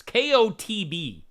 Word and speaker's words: Kotb: It's Kotb.